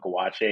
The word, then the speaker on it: gouache: And I was like, "But we call it gouache." Because we didn't know how to say it when we were in college. We were like, "Guash." She's like, "Guash."